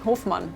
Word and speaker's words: Hofmann: Hofmann is how you say, Hofmann.